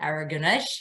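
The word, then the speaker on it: Aragonez: freshness here so tempranio araganesh as we pronounce it here tends to give you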